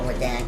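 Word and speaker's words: Radahn: fought for General Radan.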